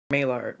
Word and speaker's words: Maillard: Maillard. Maillard. Oh, without the D. What? Maillard.